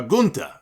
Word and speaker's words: Gunther: winner of the match as gunther or gunta as he pronounced it before the other